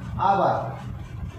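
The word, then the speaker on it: hour: कुछ उच्चारण ऐसे होते हैं जो आप जानते ही नहीं है तो फिर करेंगे कैसे, देखिए अब वो देख लीजिएगा है, जैसे आपका ये रहा आवर, ये रहा अनेस्ट, ये आवर है ये अनेस्ट, जब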